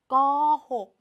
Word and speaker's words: โกหก: เอง ค่ะ เด็ก ๆ สระ โอ เมื่อ เรา ลด รูป แล้ว เรา ก็ ตัด สระ โอ ทิ้ง นะ คะ แต่ ว่า ใน การ อ่าน เรา ยัง ต้อง อ่าน ออก เสียง สระ โอ เหมือน เดิม นะ คะ เก่ง มาก